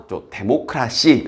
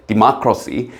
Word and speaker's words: democracy: 그래서 데모크라시, 뭐 틀린 발음은 아닌데 democracy.